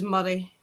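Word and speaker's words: Moray: The county I live in is Murray. M O R A Y.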